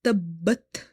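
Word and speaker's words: تبت: So when it comes to word Tabbat, you have to emphasize on letter Ba in order to pronounce it twice. Ba is containing Shadda, this tashdid sign on top of it, which tells us that the ba, letter ba is twice.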